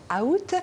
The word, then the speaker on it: août: ce mot août août savez vous qu'il existe quatre prononciation différentes alors certains disent ou d'autres août parfois on entend out et beaucoup plus rarement à août j'ai peut-être inverser la